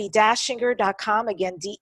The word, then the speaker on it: Dachinger: it's debye de bebé I and the last name is Austrian so it's spelled EA CH I n G ER Facebook